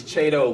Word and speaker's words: Chiedo: It's Chiedo like tornado.